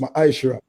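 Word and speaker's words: מעשר: verse 8 to 10 means tenth in the hebrew and is pronounced maisha ten percent of every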